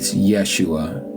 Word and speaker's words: Yeshua: The way it's pronounced, it's Yeshua.